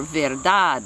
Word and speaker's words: verdad: tools the other rule is if it ends in a consonant other than SN n then you stress the last syllable like Ciudad C that means city Ciudad de Ciudad or verdad la verdad is the